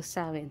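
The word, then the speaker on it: Samhain: sa mga ah nagce-celebrate ng samain Paano ba bigkasin yit saen so sawin so sa mga nagce-celebrate ng sawin happy sawin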